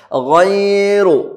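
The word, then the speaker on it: غير: أَجْرٌ أَجْرٌ പിന്നെയോ غَيْرُ غَيْرُ غَيْن ശ്രദ്ധയോടെ പറയണം. غَيْن അല്ലേ, തൊണ്ടയിൽ നിന്ന് പുറപ്പെടുന്ന അക്ഷരമാണ്. ഗൈറു ഗൈറു റാ വായ നിറഞ്ഞ് പറയണം.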